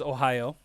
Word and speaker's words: ohayo: to go over is ohio and it's literally pronounced the same way as the state ohio so if you just say ohio you'll say it right